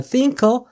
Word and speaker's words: think: 자, 그리고 여러분들 th 발음은 혀가 앞니빨에 닿으면서 발음이 진퉁입니다. think.